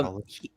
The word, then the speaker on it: McAuliffe: Yeah, McAuliffe.